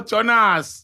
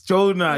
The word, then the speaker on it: Jonah: Oh, Jonas. Jonah. It's not the same. I think it's the same. I need to read the Bible more, man. Get Jonas. Jonas. It's Jonah. Oh, you don't pronounce the S.